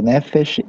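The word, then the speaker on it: נפש: Você já percebeu, Nefesh e Eretz são palavras paroxítonas, né? Acentuada na primeira sílaba aí, né?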